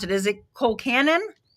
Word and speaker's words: colcannon: I have had, okay, how do you pronounce it? Is it Colcannon? Colcannon.